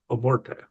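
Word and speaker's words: Amorth: the name of Gabriel Amorte. Amort I keep saying Amorte with like an accent at the end. Apparently that's not how it's pronounced. It's amort.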